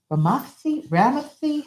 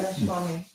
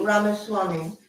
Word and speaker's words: Ramaswamy: What it's supposed to do with, along with Vivek Ramathi, how do you say his last name? Do you remember? But I'll just say Vivek, right? Ramaswamy. Can you repeat that for me? Ramaswamy.